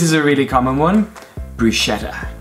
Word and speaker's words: bruschetta: before I was gently instructed how to correctly pronounce them. Okay, so you ready? Let's start! This is a really common one. Bruschetta. Bruschetta.